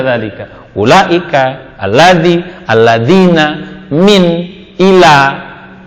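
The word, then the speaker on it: ذلك: Sampai kapanpun dzalika pasti dibaca dzalika.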